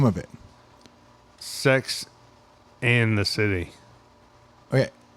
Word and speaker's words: Sex and the City: Sex and the City. Okay. How do you say it? That's correct. Yeah. So I always said Sex in the City.